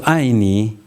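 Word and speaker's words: 爱你: 이 아이 이게 중요합니다. 예수는 이렇게 예수입니다. 그 다음에 아이가 여기 위에서 뚝 떨어지듯이 아이 이게 사성이라고 그러는데 아이 니는 그냥 니 하면 되고요.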